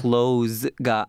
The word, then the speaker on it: close: Close가 아닙니다. 아, 맞다. 발음 조심해야 됩니다. 네, close예요. Close. C-L-O-S-E. Close. Close. Close하고 똑같은 스펠링이긴 하지만 여기서는 의미가 가깝다이기 때문에 close. S 발음으로 가셔야 돼요.